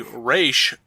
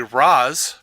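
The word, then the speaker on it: Ra's: was I can explain the different pronunciations of Ral ghoul if you like is Arabic the re pronunciation administrative head of the demon I.E leader the Raz pronunciation means physical head of the demon I.E the Demon's actual head so they are both correct and cool uh I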